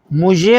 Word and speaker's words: مژه: کی مفرد ہے مژه۔ اس کے تلفظ کے لیے آپ ضمے بھی استعمال کر سکتے ہیں اور کسرے بھی استعمال ہو سکتی ہے۔ ماشاءاللہ ماشاءاللہ۔ تو ضمے جو ہے اگر ہوگی تو یہ مژه ہو جائے گا، اور اگر اس